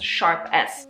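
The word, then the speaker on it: ß: pronounce this letter here it's an S it's a sharp s not that you're gonna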